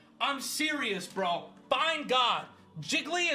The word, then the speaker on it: Jiggly: mean people are saying jiggly is three syllables I'm serious y'all seek help find God find god dude I'm serious bro find God jiggly is three syllables see